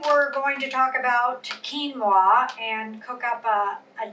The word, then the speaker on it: quinoa: you're cooking today we're going to talk about quinoa and cook up a a dish that has